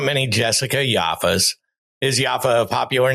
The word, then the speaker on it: Yaffa: What's your last name? Thanks so much. It's Yafa. Yafa. Yeah. See, that's interesting. I'm sure there's not many Jessica Yafas. Is Yafa a popular name?